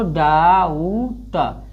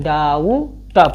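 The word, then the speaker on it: doubt: लेकिन इ बी हमेशा silent होता है। इसलिए क्या पढ़ते हैं? इसको डाऊ ट। डाउऊ ह ट। इसको क्या पढ़ा जाता है? डाऊ ट पढ़ा जाता है।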